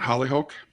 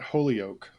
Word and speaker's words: Holyoke: It's Mount Holyoke. It's not Mount Holy. Holyoke.